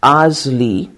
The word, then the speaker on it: ASLE: the co-founder of asle pronounced as Azle the association for the